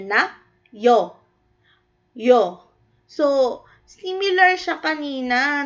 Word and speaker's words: ㅕ: So sa English may katumba siya na ganito. Y o yo.